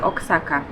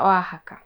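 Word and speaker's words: Oaxaca: fasoli z meksykańskim serem który chyba wymawia się oxaka a tak naprawdę wymawia się oahaka nie jestem pewna musimy to sprawdzić i dodatkowo jeszcze dostałam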